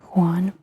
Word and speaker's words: Juan: Juan, it's actually Juan, but it's spelled JUAN.